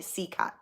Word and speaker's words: CECOT: It's spelled CECOT, all capital letters, CCOT. I don't know if it's an acronym for something, but they call it CCOT.